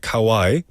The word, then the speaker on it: Kauai: are other places like Kauai, sounds like the Japanese word, in the Garden Island, and it's small and quiet.